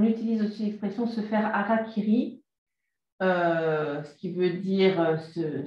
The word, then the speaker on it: harakiri: On utilise aussi l'expression se faire harakiri, ce qui veut dire se suicider, se couper le ventre. Mais on m'a expliqué que le R se prononce L, donc c'est harakiri.